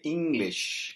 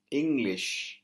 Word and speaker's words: English: வேண்டிய இடத்துல பார்த்தீங்கன்னு சொன்னா அந்த குறியீட்டு ங் என்கிற இடத்துல கொஞ்சம் அழுத்தத்தை கொடுக்க சொல்லுது ஆகவே இங்கிலீஷ் நீங்க சொல்லணும் இங்கிலீஷ் எல்லாரும் ஆங்கிலத்தை எப்படி உச்சரிக்கிற அந்த